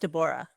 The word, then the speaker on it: Deborah: Yeah, it's pronounced Dborah. Yeah. So, you just pronounced Yeah, you just pronounced every syllable.